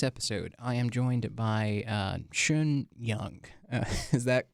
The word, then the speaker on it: Xin Yang: This is your host, Abdullah Najjar, and in today's episode, I am joined by Xin Yang. Is that correct pronunciation?